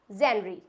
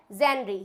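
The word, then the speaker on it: genre: Next word है हमारा जेनरी। क्या होता है? जेनरी। ये बिल्कुल गलत प्रोनाउंस किया जाता है। इसको बोलते हैं जॉनरा।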